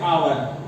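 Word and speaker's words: hour: है, इसकी हिंदी की, पढ़ते क्या, एच साइलेंट, एच साइलेंट होता है, एच साइलेंट होता है, तो इसे हम पढ़ते हैं आवर, आवर, ठीक है।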